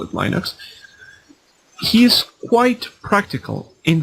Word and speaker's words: Linux: Linus Torvalds, the creator of Linux, sorry, it's pronounced Linux, even though I call it Linux.